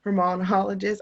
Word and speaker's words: Hormonologist: Hormonologist.